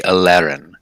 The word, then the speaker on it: Aleerayn: it and completely extra, it would be Alerin. But you don't have to roll the R like that, so you can say Alerin.